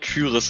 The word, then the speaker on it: Tyris: Erstens, das wird Tyris ausgesprochen, danke.